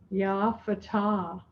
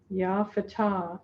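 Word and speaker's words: Ya Fattah: ourselves to realize multi-dimensionality the way that we say that in the sufi tradition is yah fatah f-a-t-t-a-h ya fatah and it really means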